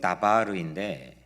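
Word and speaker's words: דבר: 말은 히브리어로 다바르인데 광야는 히브리어로 mid바르입니다. 그러니까 밑자만 빼버리면 거의 비슷한 발음입니다.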